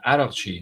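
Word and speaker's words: Araghchi: the foreign minister is called Arakchi, means born in Iraq? Yeah. I don't know if you guys knew that, but Adal is Iraq. That's how you pronounce it in Farsi. Arakchi, Iraqi. That's why they call him the Iraqi.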